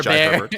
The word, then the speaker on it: Jai Herbert: It is Jai Herbert. Hey, Bear. Jai Herbert. You know what? yeah, Jai Herbert and.